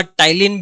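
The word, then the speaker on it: ptyalin: नाम है, या टाइलिन, टाइलिन में पी भी आएगा, वो साइलेंट होता है, PTYLIN।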